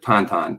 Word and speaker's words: Tintin: yes i mean in in the u.s we would we would say tintin but tantan is uh how it would be pronounced in french uh so the uh